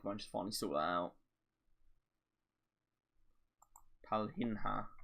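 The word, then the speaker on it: Palhinha: finally sort that out Palin that makes no sense being spelled like that poar it's p LH I nhha that makes no sense to me but the game has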